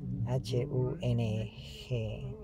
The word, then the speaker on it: hum: En realidad lo pronuncian peime, los tibetanos peime, y hum, lo pronuncian hung, H-U-N-G, hung.